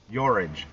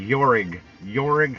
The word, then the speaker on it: Jorge: Do you pronounce it Jorge or Yorage? Yeah, Yorage. That's like a European pronunciation of that name.